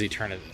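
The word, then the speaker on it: Eternatus: Eternitus. So it is Eternitus. See, I'm the worst at reading things, and I always get names and places and names of places wrong, so I do apologize. But Eternitus is going down.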